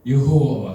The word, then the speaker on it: 여호와: 아까 처음에 여호와 같은 원형이에요. 히브리에서 자음만 존재하고 모음이 없기 때문에에 그래서네 글자로 쓰여 있어요.네 에걸자 후대에 무음을 붙여서 야외 또는 여호와로 발음하게 되었고 엄격한 유대인들은이 이름을 입에